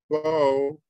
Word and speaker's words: ebo: The word ebo does not have an elision. It's just one syllable.